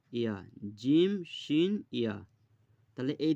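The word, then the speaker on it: ياء: এখানে বলা আছে যে জিভের মাঝখান এবং তার বরাবর উপরের তালুর সাথে লাগিয়ে উচ্চারিত হয় জিম, শিন, ইয়া।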